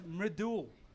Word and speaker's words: Mridul: It's Mridul. M-R-I-D-U-L. That's fantastic, Madul.